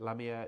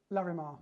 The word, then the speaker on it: Larimar: And of course, there Jamie has used that Lamier. Is it Lamier? Larimar. Larimar. Why do I keep saying it wrong?